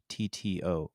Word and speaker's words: Peixotto: Sidney Poixotto, that's how you pronounce it. It's Good. Mhm. Peixotto is the name. Sounds like an Italian name.